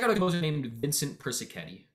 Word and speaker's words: Persichetti: Well, check out a composer named Vincent Persichetti. Persichetti is going to be spelled like Persichi. Etti. He's Italian.